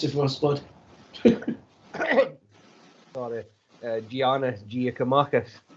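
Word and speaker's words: Giannis Giakoumakis: You'll have to pronounce it for us, bud. Sorry, Giannis Giacomakis. Giacomakis.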